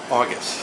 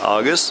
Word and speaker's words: Augis: Augis. Augis.